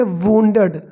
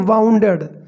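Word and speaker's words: wounded: बुरी तरह से, वुंडेड इसको पढ़ेंगे वुंडेड, अक्सर लोग पढ़ते हैं इसको वाउंडेड, जो कि गलत है, ओके, दैट इज़ करेक्ट, इसका जो करेक्ट प्रोनाउंसिएशन होगा वो होगा वुंडेड, वुंड, यदि इसमें ईडी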